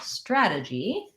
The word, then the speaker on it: strategy: strategic and stratagem so for the word strategy we have first syllable stress strategy this t becomes a flap so it sounds like a d and the vowel in